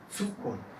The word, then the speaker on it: Zukunft: La Z suena un poco más como TS. Medizin. No escucho. Medizin. Zahl. Zählen. Zukunft.